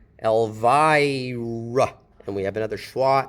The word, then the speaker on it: Elvira: Okay, so Elvira, the stress is here.